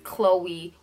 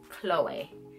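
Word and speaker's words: Chloé: or Khloe Kardashian with the K it is Chloe with the C with an accent over the e so it's Chloe so yeah that is number one the second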